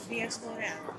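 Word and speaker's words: διασπορά: También hablábamos antes diáspora en español, que en griego es diáspora. Bueno, simplemente se acentúa la última sílaba, pero prácticamente lo mismo.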